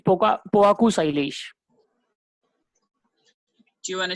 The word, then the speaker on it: Poaku: Yeah, it's Poaku Sailesh.